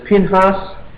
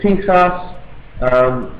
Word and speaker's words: Pinchas: There is Phineas, there is Pinchas, there is Pinchas. There are just a whole heap of different pronunciations, and it's the name of a zealot, son of Eleazar.